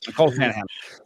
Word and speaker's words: Nicole Shanahan: Yes, Nicole Shanahan.